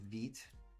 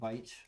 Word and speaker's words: Vite: to I'm new to vit or Vite however you want to pronounce it um so it's you